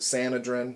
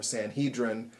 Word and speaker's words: Sanhedrin: we're reading about the you could pronounce it sanadrin or sanhedrin here in the new